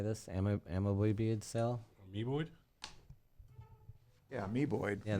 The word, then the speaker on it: amoeboid: Amoeboid cell.